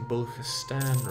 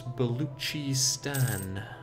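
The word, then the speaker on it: Baluchistan: uh somebody told me I keep pronouncing buan wrong I was told it's beluchi Stan I'll try and remember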